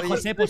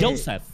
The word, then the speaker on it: Joseph: No se dice Josepo, se dice Joseph.